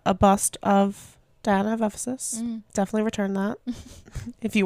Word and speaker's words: Ephesus: Diana of Ephesus. Ephesus? Ephesus.